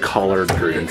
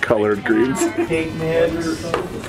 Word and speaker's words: collard greens: modified color all right it's pronounced collard greens by the way not colored greens onions garlic two things